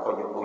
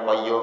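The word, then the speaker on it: قيوم: Kan mestinya bacanya ya Hayyu Ya Qayyum Ya Hayyu Ya Qayyum Ya Hayyu Ya Qayyum.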